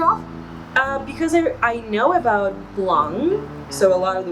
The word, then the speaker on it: Blanc: here in the States, it is appropriate to pronounce it as Blanc. So a lot of people actually pronounce that C as a K here in the United States.